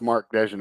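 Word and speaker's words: Mark Daigneault: we gotta get credit i think he's pronounced mark dejan all right it's the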